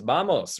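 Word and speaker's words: vamos: probably figured out already it's bamos right let's go sounds exactly the same right Vose so and this goes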